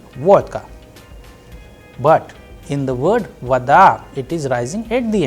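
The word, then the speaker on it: вода: and that is why the sound of Oh is coming like ah and I am pronouncing like vada all right and in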